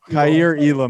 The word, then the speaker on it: Kaiir Elam: And how do you pronounce that? Kaiir. I thought he said Kaiir Elam. Kaiir Elam.